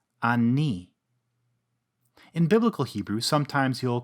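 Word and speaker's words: אני: we have the pronoun ani. Ani. In biblical Hebrew, sometimes you'll come across another form, pronounced anochi. Both forms end with a chirik yod for that recognizable E sound.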